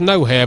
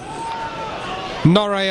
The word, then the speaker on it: Gnohere: I mean, it's, I suppose, to look at it, you've got to say it's pronounced no here, but then people like Stacey Caldicott might take exception to that. So, Norrie, I'm afraid, is how we're going to do it, and apologies before we